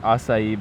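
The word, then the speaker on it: açaí: Having my first acai bowl. Still barely can even pronounce it.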